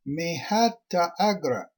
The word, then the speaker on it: Mahata Agra: Mahata Agra, pronounced Mehata Agra.